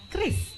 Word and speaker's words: QRIS: Untuk penyebutannya adalah Kris. Yang benar Kris.